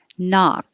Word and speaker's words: knock: Knock. You don't hear the K unless it's connecting to a vowel.